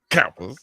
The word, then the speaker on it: Kappa: So much emphasis on the first syllable. Kappas.